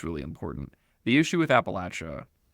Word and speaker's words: Appalachia: from, and I think most people in the region pronounce it Appalachia. That's how I say it. There's no right answer, but I will pronounce it Appalachia.